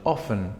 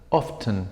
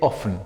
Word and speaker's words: often: Que puede haber una variedad, esa es la pronunciación, often. No pronuncio la T, pero en algunas variedades de inglés, especialmente en el Reino Unido, pueden escuchar often, often con la T, pero pronunciamos generalmente often, ¿ok?